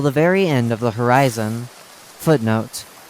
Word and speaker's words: Horyzon: very end of The Horizon footnote spelled h o r y z o n but pronounced the same as the word horizon h o r i